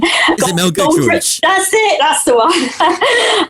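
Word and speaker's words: Giedroyc: We have the Memory Kitchen with TV presenter Mel, I can never remember how to pronounce her name. Is it Mel Goodrich?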